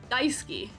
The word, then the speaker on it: Daisuke: Emphasis on the first. That's the important part.